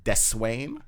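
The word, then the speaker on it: Deswayne: w a y n e so it's technically pronounced de swain du swain yeah which i hear a lot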